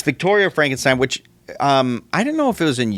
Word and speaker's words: Frankenstein: It's pronounced Frankenstein, first of all.